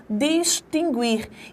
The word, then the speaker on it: distinguir: Checar, olha só, este U que aqui aparece não tem som. Ele pertence ao encontro GU-QU. Isso implica dizermos que aí, ó, há a presença do dígrafo e não do ditongo como nós pronunciamos. Distinguir, não. Distinguir. Esse U não tem som.